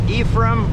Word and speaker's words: Ephraim: to uh deliver in mount ephraim that's i was told that's how they pronounce it eph what is it